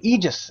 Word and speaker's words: Aegis: seen somebody snatch up that Aegis that quickly Aegis is apparently how it's supposed to be pronounced is the Miranda Rock going to come